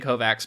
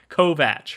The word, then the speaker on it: Kovacs: our last episode recording you know saying Kovacs but in my defense I think in the book it says that like some characters call him Kovacs cuz they can't pronounce it correctly and so that must have just lodged in my head so that's my only defense I have for it Kovach I will try and get it right I mean we should